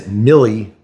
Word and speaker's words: milli: And yes, it is milli, not milla, just in case you guys were wondering.